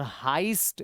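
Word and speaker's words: heist: और हाइस्ट, इसको पढ़ते हैं हाइस्ट। हाइस्ट क्या होता है? रॉबरी होती है। एक है ना web series money हाइस्ट। हाइस्ट मतलब रॉबरी, डकैती। ठीक है ना, इसको हाइस्ट पढ़ा जाता है।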